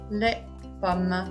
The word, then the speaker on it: les pommes: Attention, S final n'est pas prononcé. Les jus, les pommes.